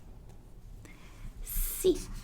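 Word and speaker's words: sì: be very very simple yes is see and no it's even easier it's no so we say c when you wanna say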